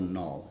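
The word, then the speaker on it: knol: Many years ago, I came across this concept um called a null and it's spelled K N O L.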